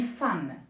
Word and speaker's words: femme: Et ici, on prononce A. Hein? Même s'il y a un E, on dit une femme.